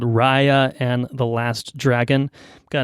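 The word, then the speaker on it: Raya: of a mayaula here I'm pretty sure I've called this film rehea in The Last Dragon for the entirety of its existence so I guess I didn't know how to pronounce Rya um uh so there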